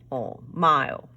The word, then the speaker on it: mile: We know that that I says I, so it will be mile.